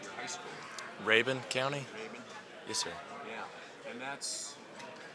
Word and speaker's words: Rabun: I was going to ask you how you pronounce the name of your high school. Rabun County? Rabun?